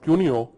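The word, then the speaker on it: Couinaud: classification was given by coard that's pronounced cuno in 1957 still we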